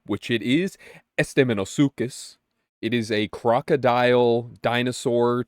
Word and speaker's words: Estemmenosuchus: Esteemosis pets, if you will, because I learned how to say this pet's name, which it is Esteeosukus.